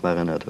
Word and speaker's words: Maranatha: en russe ou en japonais, Maranatha, ça se prononce Maranatha.